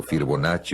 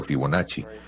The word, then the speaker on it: Fibonacci: da Vinci, sino a Leonardo Fibonacci, como quieran pronunciarlo, Fibonacci o Fibonacci.